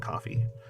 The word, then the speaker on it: Ko-fi: takes like almost nothing it's spelled like Kofi but it's like coffee I have the link